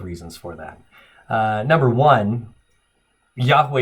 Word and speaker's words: Yahweh: Number one, Yahweh is the best educated guess we have as to how to pronounce this.